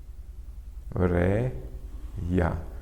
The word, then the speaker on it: Coreia: Que esses ditongos aqui, porque estão juntos na mesma sílaba, ela é uma paroxítona porque a sílaba forte é o rei, então é a penúltima, eles não são acentuados,